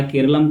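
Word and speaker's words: കേരളം: केरलम को मूल मलयालम उच्चारण का करीबी प्रतिबिंब माना जाता है कि जो मलयालम ग्रंथ है प्राचीन, उसमें जो केरल शब्द है उसका केरल नहीं केरलम के रूप में नाम था।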